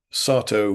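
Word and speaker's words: Satow: By the way, I'm pronouncing Sarto with a long a as Sahu used to.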